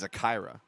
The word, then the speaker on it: Zakira: We have a girl on Mills whose name is spelled like Zachariah, but it's Zakira.